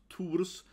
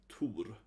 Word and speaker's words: Thor: In Swedish and Danish and so on, and Norwegian, you say Thor, sort of Thor, right? So it's a little different pronunciation, yeah, Thor. We don't have the H, right? So it's just Thor.